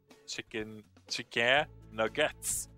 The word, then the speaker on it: Chickénuggètz: It's pronounced chicken nuggets. It's just that it's written Chickénuggètz. Oh, wait.